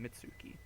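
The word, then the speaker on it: Mutsuki: If we hadn't run away, Itsuki and the others didn't have to be I've been pronouncing it wrong. It's Itsuki and Mitsuki.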